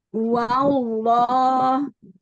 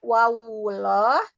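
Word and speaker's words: والله: Wallah. Hati-hati tidak wawullah, tapi wal.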